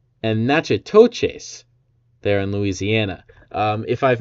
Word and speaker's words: Natchitoches: Nacogdoches in Texas, I believe, is how it's pronounced, and Natchitoches there in Louisiana.